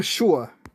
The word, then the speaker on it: sure: There are some English words where the letter S is pronounced really strange. For example, sure. That's where the letter S without an H is pronounced shish.